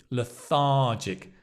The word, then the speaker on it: lethargic: And remember you wanna stress that syllable, lethargic.